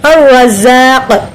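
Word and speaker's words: الرزاق: அல் ரஸாக், அல் ரஸாக் rock அலிஃபை மத்தா இருக்கு. வாய் நேரம் என்ன பண்ணணும்? ரா அப்படி சொல்லணும்.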